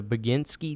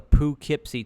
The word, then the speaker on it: Poughkeepsie: I watched the the begin ski tapes is that what you said I watched it on stream it's called the Poughkeepsie tapes I believe it's spelled